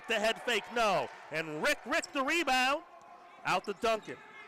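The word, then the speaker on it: Riek: the big guy who's what you say it's rick rick how is how you say it rick rick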